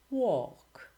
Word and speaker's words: walk: Silent L. Salmon, calm, half, would, should, could, talk, walk, and others.